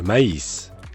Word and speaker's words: maïs: In addition, French uses a diaresis, which looks a lot like the German umlaut, to convey when two vowels that are usually pronounced together, like mais, should be pronounced separately, like. Le maïs.